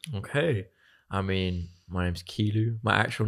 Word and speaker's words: Kilu: But Kilu came from. I get called all the time. And in French, there's this type of slang where you flip syllables. So instead of saying thank you, you'd say you thank in French, obviously. So I did it to and it became Kilu.